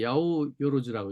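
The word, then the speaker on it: 八百万: 그러니까 야오요로즈라고 이제 숫자로는 800만인데 야오요로즈라고 읽어요.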